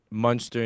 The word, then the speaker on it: Munster: but we grew up in Munster, Indiana.